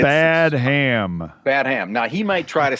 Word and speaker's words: Badham: days, but the director here is named John Badham. How do you say his name? I would go with Badham, Dave. I don't know. It's spelled Badham.